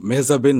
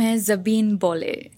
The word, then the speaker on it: মেহজাবীন: Well, like সবাই তো মেহজাবিন বলে, তো এটার উচ্চারণটা আসলে একদমই অন্যরকম। ইটস মেহজাবি। মেহজাবি। হ্যাঁ, এন বা ন আচ্ছা, এটা কিন্তু সাইলেন্ট।